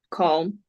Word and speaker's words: calm: you say in English calm I hear L should it be there yeah M you is it new for you yes because it sounds like come okay yeah so sometimes we